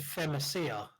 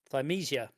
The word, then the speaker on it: Thymesia: Femicia. And I would say Timesia. So we all say it differently, and probably, maybe one of us is correct. Wait! I have a pronounce thing on my phone. Thymesia.